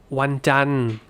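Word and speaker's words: วันจันทร์: The spelling is required, but you just finish on the N.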